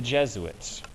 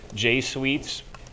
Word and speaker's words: Jesuit: get the pronunciation because looking at that word you might think it's J sweets or J suits or something like that it's not it's Jesuit Jesuits are uber priests